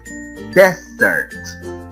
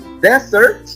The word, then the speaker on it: desert: For example, we have the first is desert. Que nos estamos refiriendo al desierto. What about, for example, here? The pronunciation is dessert. Can you identify the difference there?